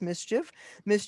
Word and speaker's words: MSCHF: This is from an agency called MSCHF, which you pronounce Mischief Agency, and the shoes sold out in seconds, and Nike's suing them.